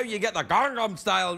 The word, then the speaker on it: Gangnam: Gangnam.